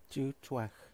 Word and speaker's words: Tsútswecw: this is how you pronounce the name of the provincial park that the Adams River flows through Dutoit